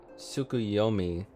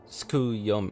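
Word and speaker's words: Tsukuyomi: So this suki suki sukuyomi wait she pronounced it skuyomi skuyomi was summoned in s much the same manner as susano via the medium of a sacred relic.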